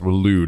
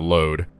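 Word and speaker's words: Waloed: Willude, I think that's pronounced Willude, not load. Lewd, like Benedicta.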